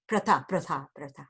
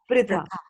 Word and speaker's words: Pritha: Her name is Pritha. It is as if it isn't Pri. You say Priti, right? Uh-huh. Right? So like that, Right. it's Pritha. Pritha. Right. Pritha. Okay. Pritha. Like Prithvi, right? You don't say Prathvi. Do you say Prathvi? You say No. Prithvi. Similarly, this is Pritha.